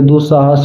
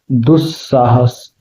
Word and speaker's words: दुस्साहस: है ना ये आपका संस्कृत में आधा स जो है वो पढ़ा जाएगा। क्या पढ़ा जाएगा? आधा स। जैसे दुस्वप्न, दुस्साहस, दुस्सह। ठीक है, ऐसे इसको हम लोग स का उच्चारण लाते हैं।